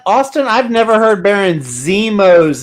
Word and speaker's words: Zemo: Yeah, Austin, I've never heard Baron Zemo's name pronounced like that either, but he likes to do weird pronunciations over here.